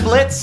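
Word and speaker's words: Blitzø: are we yeah I'm Blitz the O is Silent not sure we're gonna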